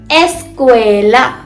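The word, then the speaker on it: escuela: एस्क्वला एस्क्वएला ए की साउंड आएगी।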